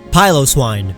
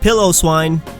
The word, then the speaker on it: Piloswine: Piloswine, not Pillow Swine.